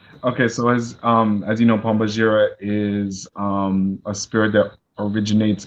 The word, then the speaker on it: Pombagira: Is it Pombagira or Pombagira? Pombagira.